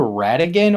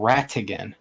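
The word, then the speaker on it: Ratigan: about that um um same spelling different pronunciation pronunciation sorry well would be with like like R A but rattigan would be with a t so and it's just how much you're enunciating the T yeah I'm slurring half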